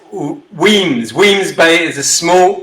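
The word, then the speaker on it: Wemyss: would you like a robert uh whereas is pronounced weens williams bay is a small port town west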